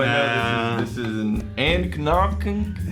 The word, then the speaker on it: anCnoc: And he didn't sheathe it properly, so I know this is an anCnoc. It's not true. It's anCnoc. That's how you pronounce this. anCnoc.